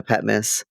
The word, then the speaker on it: Patmos: this area where at patm Miss did I say it right patm miss you did Pat oh yeah Pat Miss um the te is almost silent Pat yeah it's like you know